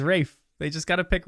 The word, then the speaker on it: Ralph: I think the established actor that they picked for Voldemort is Ralph Fiennes. Or Rafe. Sorry. I never know how to say it. Is Rafe.